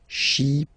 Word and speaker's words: chypriote: Remember this Y is pronounced like I. Okay. Chypriote.